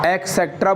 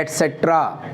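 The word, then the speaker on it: et cetera: आप लोगों को नहीं बोलना है एक्सेट्रा, आपको बोलना है एटसेट्रा। इसका जो राइट प्रोनाउंसिएशन है क्या है? एटसेट्रा मतलब आदि आदि वगैरह वगैरह। तो इसका सही जो प्रोनाउंसिएशन है वो एटसेट्रा है। अच्छे अच्छे टीचर तक देखते हैं अपन जो सुनते हैं एक्सेट्रा बोलते हैं स्कूलों में कॉलेज में एक्सेट्रा। अरे एक्सेट्रा नहीं है वो, एटसेट्रा है वो।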